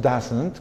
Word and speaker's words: doesn't: Pero la forma corta, doesn't, así la pronunciamos, doesn't, con una A prácticamente abierta, esa es la pronunciación correcta de la forma corta, ¿ok?